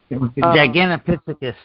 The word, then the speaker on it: Gigantopithecus: you talking about the what are they, the Gigantopithecus? I can't say it right. Gigantopithecus.